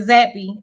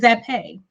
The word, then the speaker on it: Zappe: It ain't even Zappy. It's Zappe.